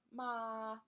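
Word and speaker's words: 妈: tone in Chinese there's tone one which is flat ah so ma that's how you say mom that's how you saying mother mama the second ma could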